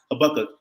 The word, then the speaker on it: Habakkuk: Know that it's pronounced Habakkuk and that Habakkuk.